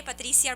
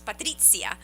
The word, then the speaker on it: Patrizia: No, it's really, people say Patricia or Patricia, Oh, but it's spelled with Patricia. the Z, so it's half Italian, so it's Patrizia. Patricia.